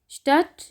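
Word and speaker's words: Stadt: डे थे की आवाज़ देंगे, आएगी इसकी स्टट, श्मिट। डे जो है ये साइलेंट है, ये टे की आवाज़ आनी है इसमें। स्टट, श्मिट, डे साइलेंट है।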